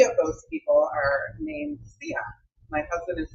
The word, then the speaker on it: Sean: It's spelled S-E-A-N, which a lot of white people pronounce Sean.